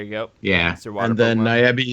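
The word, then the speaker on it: ニャビー: And then Nyabi is believed to be a cat, rhymes with tabby.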